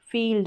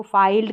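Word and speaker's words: field: जैसे चीफ, इसको चाइफ करके नहीं पढ़ेंगे, चीफ, थीफ, ब्रीफ, फील्ड, अब इसको फाइल्ड करके नहीं पढ़ेंगे।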